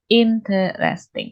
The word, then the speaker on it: interesting: Nah, kalau famous seperti penyebutannya kita punya famous, attractive, interesting, or interesting. Harusnya ada 3 syllables nih. Not 4. Interesting.